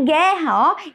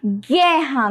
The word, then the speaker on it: guerra: u muito bem gente na palavra guerra guerra nós temos um único são o mesmo som de gato ó certo e aí